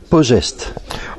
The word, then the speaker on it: Posesti: Alors, on dit Pogest. Voilà, on dit Pogest. J'ai appris à dire Pogest, ça s'écrit Posesti, et on dit Pogest, oui.